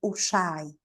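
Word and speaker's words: Ujjayi: usamos es la respiración usai uhi se escribe pero es usai Sí esa respiración Crea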